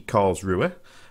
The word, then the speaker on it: Karlsruhe: so here she is the carl's rue uh which i think is the the correct way of pronouncing it and uh yeah she's